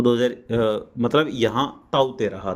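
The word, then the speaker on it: Tauktae: और ये ताउते का जो प्रोनाउंसिएशन है, अगर आप ध्यान से देखेंगे तो यहाँ लिखा हुआ दिखाई दे रहा है ताउते, इस तरीके से है ना।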